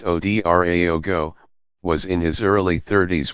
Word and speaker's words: Ouedraogo: the country's president ROC Mark Christian cavour announced the death on Twitter no cause was given dot mr our logo pronounced OD ra ago was in his early